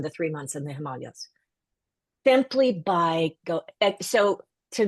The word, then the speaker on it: Himalayas: If if you're not familiar with the pronunciation, we pronounce it Himalayas.